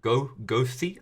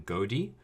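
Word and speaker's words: goði: You've been asked by your by Bjorg, who is the Gothi, I think, that we figured out was the slightly better pronunciation than Godi.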